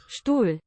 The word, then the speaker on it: Stuhl: Stuhl.